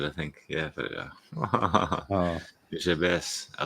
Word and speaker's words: Nujabes: Nujabes, we'd pronounce it, I think. Yeah, but Uh, Nujabes.